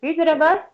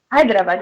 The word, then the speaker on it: Hyderabad: know the place is Hyderabad hyad yeah hyad Hyderabad yeah because I was pronouncing it wrongly before I loved it